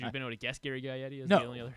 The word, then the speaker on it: Gary Gaetti: And then in 1987, you're gonna make fun of me because I can't say his name, but Gary Gaetti.